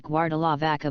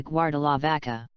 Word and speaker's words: Guardalavaca: meaning guard the ship since most people from that region lower-middle-class do not pronounce the are their way of speaking the name stuck from guarda La Barca to guar de la vaca the area was once